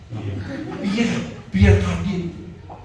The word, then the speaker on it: Pierre Cardin: Emang lo aja bisa beli Pierre Cardin, Pierre. Bahasa Prancis dulu. Kita bacanya mesti dengan lafal Prancis. Pierre Cardin.